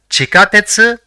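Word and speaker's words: ちかてつ: see the fifth word the first character in the word is chi the second is Ka the third is TE and the fourth is SU so it will be pronounced as chikatetsu which means Subway or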